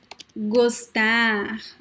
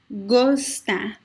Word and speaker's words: gostar: Comer, gostar. So it is closed. Comer, gostar. Okay, it is O.